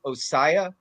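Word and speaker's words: Ossai: how do you say the other guy Joseph osaya oh sorry I know I'm gonna get it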